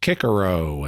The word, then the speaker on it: Cicero: In fact, even the name Cicero sometimes gets pronounced Kikero and things like that.